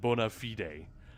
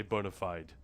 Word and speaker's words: bona fide: So yeah, that's why I said bona fide, because that would be the Latin pronunciation. Most people don't say that. Say bona fide.